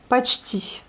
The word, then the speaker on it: почти: Et là, nous avons presque, почти. Vous voyez, le O n'est pas accentué, on le prononce comme le A.